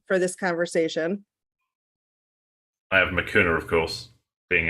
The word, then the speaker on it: Makuna: Makuna is how you pronounce our name.